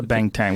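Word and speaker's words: Banteng: heard of those things cattley cattle what's a bang Tang what does it look like uh Jamie will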